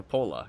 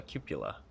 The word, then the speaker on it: cupola: cupula I always call it a Coppola because it just sounds I don't know better but it's called a cupula it's kind of weird um because I watched a video and that's how they pronounced it and I was